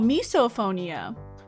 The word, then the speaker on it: misophonia: It's called misophonia and it's pronounced as miso. Oh, misophonia.